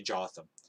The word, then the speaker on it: Jotham: Sorry, I should say Jotham. So now the differentiation is I'm going to give the southern guys J's and the northern guys Y sounds.